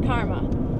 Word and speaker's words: Carma: No, it's just Carma. You know, like the thing where if you do something terrible to me, then I have to be a bitch to you? Except it's spelled with a C.